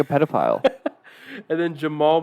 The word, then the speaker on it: Jamahl: And then Jamal Mosley, but it's spelled Jamahl. Jamal.